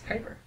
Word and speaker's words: Kuiper: to pronounce it so I've always just said Cooper because I assumed it was some Dutch form of convert that's Kuiper did I cut you